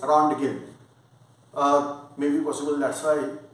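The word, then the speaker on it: Röntgen: hem conor but uh if i want to pronounce as spelling then around the game but i heard that german pronunciation is there that is rancher but spell wise around again uh maybe possible that's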